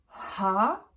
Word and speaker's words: H: F c'est pareil g attention le G g ha I J K L bon ça c'est facile